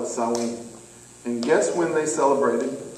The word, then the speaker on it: Samhain: it's pronounced but yeah everybody thinks that says samhain that's how it's spelled but it's actually pronounced software and that's how you pronounce it south wing but it's spelled sam wayne said let's just call it sawing and guess when they celebrated now remember beltane